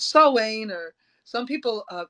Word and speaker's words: Samhain: So it's Sawain, or some people, it's spelled Sam Hain, but it's Sawain.